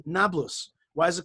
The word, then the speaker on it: Nablus: letter uh uh p they pronounced it b so it became nablus but it is shrimp